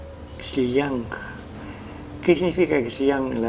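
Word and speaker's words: Xllang: Es X-L-L-A-N-G, Xiliang.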